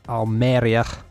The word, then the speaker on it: Almería: we've also got our almería that's how you say it there at home on